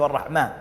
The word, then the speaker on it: Allah: Allah rahman al rahim allah pronounced a double el exhale with love the creator